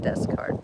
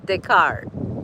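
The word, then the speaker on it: Descartes: That's not how you say it though. Deskarts. That's wrong. Decart. Decart.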